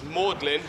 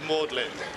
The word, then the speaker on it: Magdalene: said it was magdalin pronounced with the Latin pronunciation which is mlin pretty clever I'll give him that uh and that's how it's called mlin so then it became